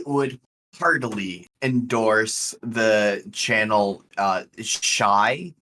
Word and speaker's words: Shiey: I would heartily endorse the channel Shy. It's how it's pronounced, I think. It's S. I'm just going to do the phonetic alphabet because of recording. Sierra, Hector, Indigo, Echo, Yankee. Okay. Shiey. Gotcha. Shy.